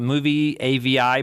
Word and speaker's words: Movavi: more options, there's another place called Movie AVI, but it's spelled kind of weird.